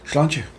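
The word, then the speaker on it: Sláinte: Slanche.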